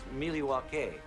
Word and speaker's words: Milwaukee: Actually, it's pronounced Milwaukee, which Milwaukee.